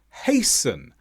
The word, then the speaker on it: hasten: Words such as listen, hasten, castle, all have a silent T because they come after the S.